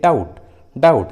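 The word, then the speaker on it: doubt: जैसे डाउट, देखिए इस इंग्लिश वर्ड में टी है और टी के जस्ट पहले बी है, इसलिए यहाँ बी साइलेंट है, डाउट।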